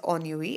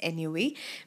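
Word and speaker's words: ennui: point of time as anyway but the exact pronunciation because this is French it's a French word or it's derived or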